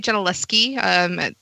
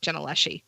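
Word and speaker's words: Gentileschi: put i would say genaleski that the s-c-h in italian kind of sounds like a k but i would take jenaleshi so but it's artemisia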